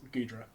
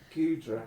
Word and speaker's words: Goodra: So I think my favorite Pokemon is Gudra. Goodra.